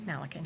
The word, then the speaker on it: Malakan: My guest for this segment's Alissa, is it Malakan? Malakan, yes. I pronounced that right? Yes, you did.